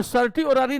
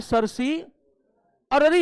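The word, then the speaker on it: certiorari: 5, और सर्टी ओरारी नहीं होता है, सरसी अररी होता है, ये एग्जैक्ट प्रोनाउंसिएशन।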